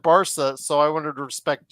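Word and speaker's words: Barça: Barca.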